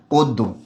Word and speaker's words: অদ্য: অয়ের পরের বর্ণে জফলা আছে, তাই অয়ের উচ্চারণটা কি হবে? ও হবে। ক্লিয়ার? আর জফলা যেই বর্ণের সাথে থাকে সেই বর্ণটা দ্বিত্ব হয়, এবং যেহেতু শব্দের শেষে অ আছে তাই তার উচ্চারণটা কি হবে? অদ্য।